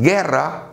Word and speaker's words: guerra: Observa, tampoco se pronuncia la U. No es guerra, no es guitarra, es guerra, es guitarra. La U no se pronuncia, por lo tanto no forma diptongo.